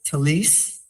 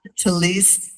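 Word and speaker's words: tallis: Now, Brad told me it's talis. However, I looked it up so that I could hear the correct pronunciation. And talis is Yiddish.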